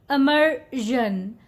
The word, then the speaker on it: immersion: Don't call it immersion. See, there is a difference between zan and zhan. Zhan. So the right way to say this word is immersion. Immersion. Zhan.